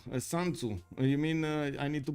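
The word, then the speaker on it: Sun Tzu: Shun Tzu. San Tzu. You mean I need to pronounce this San Tzu?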